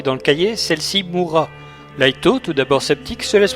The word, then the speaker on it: Light: Laito Yagami. Laito Yagami. Le nom du héros se prononce Raito en japonais mais c'estécrit light.